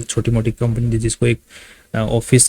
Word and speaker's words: Awfis: So company basically जैसे नाम में लिखा हुआ है ऑफिस स्पेस सॉल्यूशंस, ऑफिस तो मत जाना, सिंपली ऑफिस, जो हम लोग ऑफिस जाते हैं काम करने के लिए वो ऑफिस, ठीक है, प्रोनाउंसिएशन में ऑफिस आ रहा है।